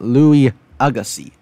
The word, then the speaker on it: Louis Agassiz: it was actually first discovered in 1822 but was re-examined in 1843 by Swiss scientist Louis Agassiz it's pronounced Louis Agassi then 50 years later another set of Bones